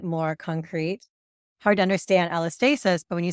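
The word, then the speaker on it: allostasis: Altosis. Alastasis.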